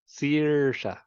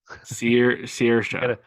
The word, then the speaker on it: Saoirse: Saoirse. Saoirse.